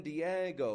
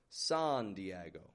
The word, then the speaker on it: San Diego: We have a modified wide A on that San. I'm not giving it just a San Diego, but San. Stretching it right out. Getting that an sound in there. The E in Diego. That's the stressed part of the word. That's the strong part of the word. Diego. Go. And then it goes kind of flat on that O.